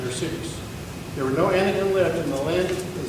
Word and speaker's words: Anakim: shows that joshua killed the blank anakin that's how i would pronounce it by the way